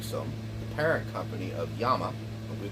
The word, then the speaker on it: Llama: the parent company of Yama we call them llama here in uh the United States but it's pronounced Yama two L's in Spanish is a y sound how do I know